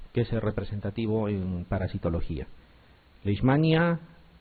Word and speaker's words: Leishmania: nosotros uno es lismania algunos quieren pronunciar la manía o leishmania y no es así la pronunciación cortez leishmania la proteína es hay una h la leishmania y hay